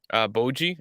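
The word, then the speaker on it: Bojji: the number one thing with this main character, Boji, I think that's how you say it, right? It's Boji, yeah.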